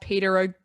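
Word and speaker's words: Peadar: it's written by uh i think his name's pronounced peter guillen i'm not 100 sure but if you look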